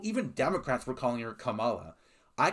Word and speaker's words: Kamala: Unless you're calling her Kamila, commie, then you're just stupid, but at least you're not racist.